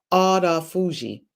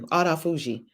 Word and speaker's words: autophagy: Okay, autophagy. Thank you, autophagy. She spelled it out to me phonetically.